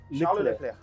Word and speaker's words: Charles Leclerc: This one is Charles Leclerc. Exactly. How do you say your name? Charles Leclerc.